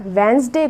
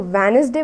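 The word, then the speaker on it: Wednesday: अब आप वेंसडे को वेनसडे बोलेंगे तो जो सामने वाला होगा वो सोचेगा मतलब कि आपको पता नहीं है कैसे प्रोनाउंस करना है।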